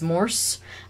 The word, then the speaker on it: Morse: Morris is spelt wrong. It's Morse.